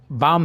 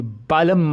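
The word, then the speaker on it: balm: एक बाम तीन काम ये एल साइलेंट है तो यहां पे अ बाम ही पढ़ना है इसे दोस्तों ये बालम मत पढ़िए एक स्टूडेंट को मैंने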